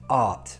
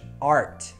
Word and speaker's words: art: So a word like art, we don't pronounce the R, it's quite soft, art. In American English, it's rhotic. American English, art.